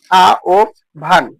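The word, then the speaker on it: আহ্বান: আহবান এর প্রকৃত উচ্চারণ হচ্ছে আ ও ভান গ নাম্বার সরে আ ও বকারে ভাহবান চার নাম্বার প্রশ্ন কোন বানানটি সঠিক?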